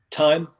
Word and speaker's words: Tm: i don't know um time uh from valhalla steel or tm it's spelled tm but i call him time i don't care what